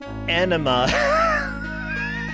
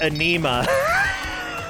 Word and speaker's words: enema: say that oh but it was the word enema no and he pronounced it anema no i understand how you would do that